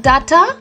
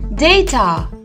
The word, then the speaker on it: data: this word it's simple it's called a data data not data it is data say it once more